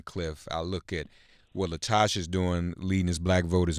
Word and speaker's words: LaTosha: fund dot o-r-g right Latasha Esther that's the right way to say it right that's it black voters empty are